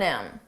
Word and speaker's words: him: She's leaps and bounds more qualified than him. Notice how you don't hear the H on him, than him. But if we want to combine those sounds together and say it like one word, then him.